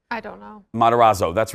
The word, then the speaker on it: Matarazzo: Bobby Brown and Gaytan Montez I can never pronounce his right I don't know matarazzo that's right yeah thank you yeah but also